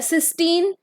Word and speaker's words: cysteine: Pronunciation same है, spelling different है।